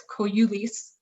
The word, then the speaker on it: Kougioulis: in Greek, it's actually, if you pronounce it the Greek way, it's Kougioulis, something like that.